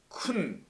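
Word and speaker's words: כון: 그들이 쿤 이렇게 돼 있어요. 준비한다는 말을 갖다가 쿤 이렇게 씁니다. 큰이 아니라 쿤. 이걸 쿤이라고 발음해요.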